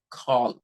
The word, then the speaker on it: call: If you ask a Telugu person to pronounce CALL, call, okay, right? The most probably the Telugu person would pronounce it like kalu, like, the leg, you know. So it's not kalu, it is call.